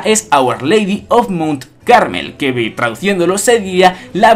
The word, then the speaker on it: Carmel: se ha confirmado que no es madre caramel sino que se dice y se escribe madre carmel Y esto es muy